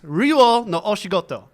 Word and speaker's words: Ryuuou no Oshigoto: This has too many vowels all strung together. It's like a king. The O is okay. It's Ryuuou no Oshigoto.